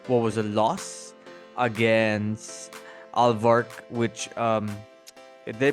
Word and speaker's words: Alvark: So, a few days ago, Kai Sotto scores his career high in what was a loss against Alvark, which did I pronounce it right?